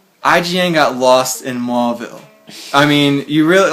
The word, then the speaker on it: Mauville: I got to Mauville, and Mauville's been reconstructed now. It's not spelled Mauville like mall. It's spelled like M-A-U-ville, but it's like a mall now, like M-A-L-L.